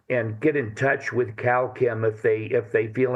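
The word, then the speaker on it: Kalchem: get in touch with Cal Kim if they if they feel inclined to do so. It's calm spelled with a K. K A L C H E M as in chemical.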